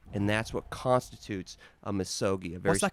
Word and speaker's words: misogi: I think it's misogi, like MISOGI.